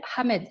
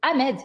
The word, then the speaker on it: Ahmed: je m'appelle Ahmed » avec le H puisque le H est prononcé. Et l'institutrice, ou enfin l'enseignante qui lui dit « mais en France, on ne prononce pas le H, répète ton nom, c'est Ahmed ».